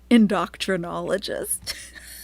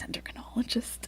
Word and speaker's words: endocrinologist: So we know it's an endocrinologist, but Chantal pronounces it, like persistently pronounces it, endocrinologist. Multiple times she said this, endocrinologist. But yes, we all know it's endocrinologist.